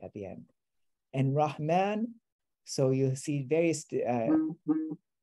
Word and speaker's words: Rahman: feels very different so not rachman rahman so a rock man